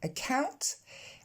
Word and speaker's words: account: Because on s'est déjà penché dessus, on va se pencher du coup sur account. On commence avec le son E et ensuite le son OW comme dans now ou how.